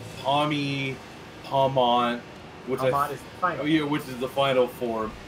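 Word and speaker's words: Pomeau: And the mid form is Pommo. If the middle form wasn't called Pommo, I would assume that the T was silent in Pommont. I would pronounce that one Pommo if Pommo didn't exist. P-O-M-E-A-U.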